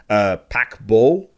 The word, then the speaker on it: Paquebot: In terms of the listings that he provided, PODDABLE, that's spelled PAQUEBOT.